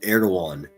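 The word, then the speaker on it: Erewhon: So, it's spelled E R D O G- A, but it's pronounced Erdogan.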